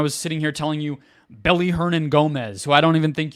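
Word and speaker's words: Willy Hernangómez: I was sitting here telling you Belly Hernan Gomez, who I don't even think you probably knew the W is pronounced like a B in his name, that he should be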